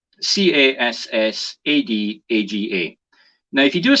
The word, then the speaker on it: Cassadaga: I'm going to do my best to pronounce this. Cassaga. Cassadaga.